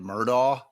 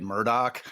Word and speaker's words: Murdaugh: Well, prior to the trial, I said it Murdaugh. Now I say it Murdoch.